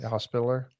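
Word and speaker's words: Hospitaller: were given to the knight's Hospital am I pronouncing that right hospitaler yeah hospitaler hospitaler um Scott says a hospitaler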